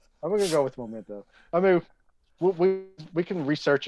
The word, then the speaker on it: Memento: Memento. Memento, yeah, Memento. I don't know. I was thinking something. Everybody's saying Memento. But isn't it Memento because it's M-E instead of M-O?